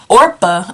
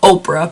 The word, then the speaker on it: Orpah: And when she decided that she wanted to move back, she told Ruth and Orpah. I have to think not to say Oprah because it's spelt so similar.